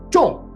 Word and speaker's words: 中: the character 中, because it's normally pronounced 中, but when you hit a target of some kind, whether it's in darts or like hitting the lottery, it's pronounced 中.